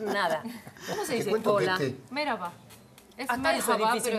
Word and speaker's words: merhaba: Merhaba. Es hasta merhaba, es difícil, pero se pronuncia merhaba. Hola, hola, es merhaba.